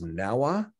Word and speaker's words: NAUA: I would offer that we should pronounce naua as Nawa it rolls off the tongue pretty good I'm hoping